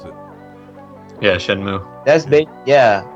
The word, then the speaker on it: Shenmue: Is that how you pronounce it? Yeah, Shenmue.